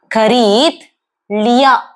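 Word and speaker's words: खरीद लिया: சோ நான் வாங்கிட்டேன் எப்படி சொல்லலாம் அப்படின்னா கரீத் லியா, கரீத் லியா.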